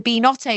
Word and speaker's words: Binotto: But it's the Binotto because it's beans and risotto.